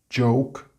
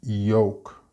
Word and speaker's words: joke: Joke is commonly mispronounced as yoke because the j sound is not being pronounced.